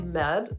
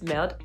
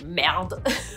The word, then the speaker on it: merde: So normally it's merde, like meh, normally it's merde. But every time I say it, I really overpronounce it. I say merde, merde.